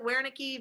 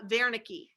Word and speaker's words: Wernicke: it's a written test if you want to pronounce it where nicky varnicky that's fine where nick okay the german pronunciation is uh vernicki okay so wernicke's area